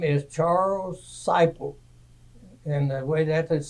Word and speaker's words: Seipelt: you were born please my name is Charles ciple and the way that is spelled is s i p l t pronounced cypel I was born in Huntington Township Brown County